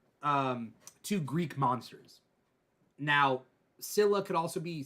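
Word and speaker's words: Scylla: two Greek monsters now Cilla could also be skilla but depend but in English supposedly I was doing some research it's pronounced Cilla s-c-y-l-l-a that's how I understood it so Cilla and tribitus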